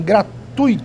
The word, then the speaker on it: gratuito: esse povo se esquece quando você tem um ditongo o ditongo deve ser pronunciado numa só emissão de voz gratuito fortuito intuito fluido